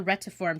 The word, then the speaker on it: retiform: it's called the retro I call it the Rhett to form technique are ETI fo RM that's how I'm pronouncing it and this is what